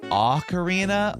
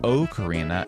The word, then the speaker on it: ocarina: And whether you say a karina or o karina, you are welcome here.